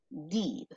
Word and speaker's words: did: La primera, did. Dicen los alumnos, I did the homework. I did the homework. Es como una suave E. No se dice literalmente así, did. No.